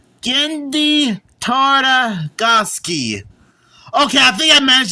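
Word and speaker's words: Genndy Tartakovsky: The movie and show is created by Gendy Tartakovsky.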